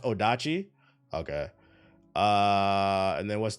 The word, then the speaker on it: odachi: we've seen these before games that BBC is pronounced odachi okay uh and then what's the is this